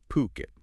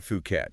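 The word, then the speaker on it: Phuket: you probably heard of PUK it and that's poo as in pool kit as in Kettle poit not fukat you know it's one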